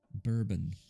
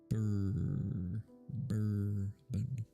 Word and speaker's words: bourbon: Bourbon. It's spelled bourbon, but it's said bourbon.